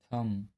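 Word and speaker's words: thumb: एम के बाद यदि बी आता है तो बी साइलेंट होता है। जैसे कॉम, बॉम, थम, डम।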